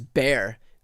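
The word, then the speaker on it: Bexar: um now I'm getting corrected on how I'm pronouncing all of them. Okay, so it's Bear. B X A R is Bear County. Uh here we go. I've also pronounced new man. All right. I've definitely got Bayer County and then Newas where Corpus Christi is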